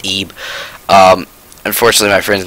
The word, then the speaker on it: Ib: called ib or well it's spelled ib but it's pronounced eeb um unfortunately my friend's